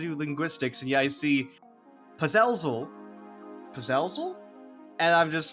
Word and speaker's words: Puzezl: At least to my understanding, this game is pronounced Puzezl. Puzezl. Okay, so the emphasis is wrong. Because I was trying to pronounce like puzzle.